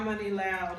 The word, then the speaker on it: Imani Loud: Yeah, Imani Loud. Imani Loud, That's how it's pronounced.